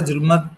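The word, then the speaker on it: ظلمت: आगे ते आ गया और जुल्मत है जे के ऊपर ये जो के ऊपर पेश आया जुल्मत जो राइट से हां अगली लाइन मैंने किसको बोली थी?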